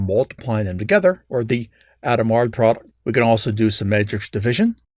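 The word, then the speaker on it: Hadamard: matrix multiplication called the adamard product yes i'm pronouncing that correctly i looked it up two matrices with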